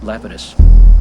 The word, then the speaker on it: Lapidus: actor Jeff Fay leus they pronounce it leitus but I think the correct Greek uh is uh Lapidus is that an intentional